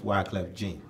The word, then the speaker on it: Wyclef Jean: if anyone's listening from that's in Texas it's Wyclef Jean okay thank you for the pronounce I was tell you what they'd be